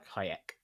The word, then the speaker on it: Hayek: So, we focus first on Ajax, played by Salma Hayak. Hayek.